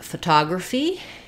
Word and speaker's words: photography: the vowel sounds and we have stress on the TA syllable now my first letter O is going to be the schwa sound because it's unstressed stress falls on the